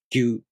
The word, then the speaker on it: Gyu: To pronounce gyu, the tongue moves from the gi sound to the u vowel, gyu.